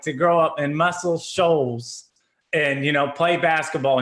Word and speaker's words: Muscle Shoals: So from, if I say it wrong, Muscle Shoals, is that how it's pronounced? Muscle Shoals.